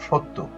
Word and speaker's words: সত্য: যেমন সত্য এখানে অ আছে। এখানে জফলা আছে এজন্য অটা ও এর মত হয়েছে।